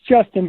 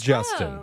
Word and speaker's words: JSTN: It's Justin, but it is spelled JSTN. Okay. Okay, it is Justin.